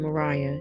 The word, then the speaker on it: Maria: and Converse Francis she went by her middle name Mariah and pronounced it that way conver Francis her older